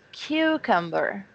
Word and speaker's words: cucumber: the Cu and it's the first syllable so this is very common in English you have a long word but this is strongest syllable is the first so I have to have breath to say it until the ends it's cucumber there you go here